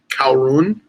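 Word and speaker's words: Caorunn: gin called cow rune it's spelled CA o AR un Kowloon and it's in a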